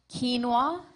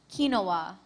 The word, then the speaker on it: quinoa: Your word has two pronunciations, quinoa, quinoa.